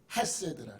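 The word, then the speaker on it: חֶסֶד: 점이 하나 찍히면 이로 발음돼. 이. 두 개가 찍혀요. 에로 발음돼요. 에. 세 개가 찍히면 에로 발음돼요. 세 개가 찍혔으니까 에로 발음되는 거예요. 에. 그래서 헤세드 이렇게 강하게 발음해야 돼요.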